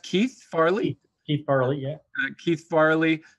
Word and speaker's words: Keith Farley: Santa, voiced by, is it pronounced Keith Farley? Keith Farley, yeah.